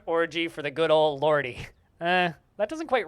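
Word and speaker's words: Lorde: you know the wonderful lordy the fantastic wholesome christian rock band lordy i think it's just pronounced lord isn't it i don't know i've always called them lordy which i'm pretty sure is wrong but you know who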